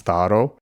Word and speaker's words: tharo: Another one you can hear is, remember this word thero, pronounced thero by the Athenians, and for the Spartans the eta turns into an alpha and it's tharo.